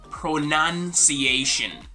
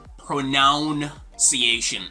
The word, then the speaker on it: pronunciation: try to pronounce it this is gonna be pronunciation pronunciation not pronounciation or pronunciation or something like that people actually mispronounce this